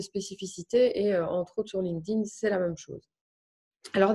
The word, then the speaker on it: LinkedIn: linkedin c'était en fait une fois qu'on réalise vraiment que c'est linked donc lié lier les gens à l'intérieur c'est linked in donc c'est de çà vient de l'anglais donc si vous voulez le prononcer correctement ses linkedin en principe ça on